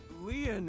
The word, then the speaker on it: Lien: let's keep talking destined my name leon is spelled l-i-e-n in french leon means